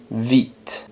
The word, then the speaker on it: vite: como una F pero se pronuncia vit y la e no suena pero si Suena la t vit esta palabra significa